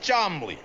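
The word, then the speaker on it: Cholmondeley: And this is my Uncle Chamandiali, pronounced Chomley.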